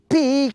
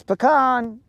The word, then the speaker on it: pecan: at all times then they're going going to start chanting pean pean pean and I'll be like it's pecan you guys can say whatever you want just because the